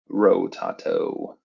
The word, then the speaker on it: Rotato: Did I spell it right? Ro Rotato.